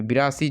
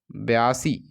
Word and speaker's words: बयासी: तो बिरासी, बिरासी पूछा रहा है, तो यहाँ पे बिरासी जो है आपका क्या हो जाएगा? बयासी, बिरासी नहीं, इसको क्या पढ़ा जाता है? बयासी पढ़ा जाता है।